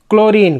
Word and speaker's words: chlorine: सब में यहाँ पे CH से क उच्चारित करेंगे।